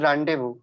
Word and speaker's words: rendezvous: it's like Rendezvous so the spelling is different and the way you are pronouncing the word it is really different so there are a